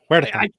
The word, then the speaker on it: Huertas: Huertas. I can't say it like that. That's right, Kurt. I can't either. Don't worry about it. But I'm going to say you got to roll the R.